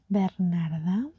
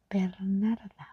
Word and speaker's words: Bernarda: Um, they say Bernarda, they say uh Vernita, they say Bernard, they forget about the A. But, uh, my name is actually Bernarda.